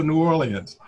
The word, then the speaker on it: New Orleans: as a kid, and if you can properly pronounce New Orleans for me. You got it. So New Orleans, that's it.